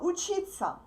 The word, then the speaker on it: учиться: To study, the infinitive in Russian is учиться. Please pay attention that these 4 letters are pronounced like sa. Okay? Repeat after me.